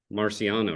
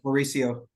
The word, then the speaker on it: Mauricio: they have highly talented talented players even um Marciano right that's how you say it did I get that right Mauricio Mauricio sorry um Mauricio he's um you know